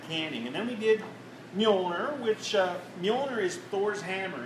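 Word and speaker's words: Mjölnir: Now, if you're having trouble pronouncing it, just pretend the J is a Y. Okay, Mjolnir. So.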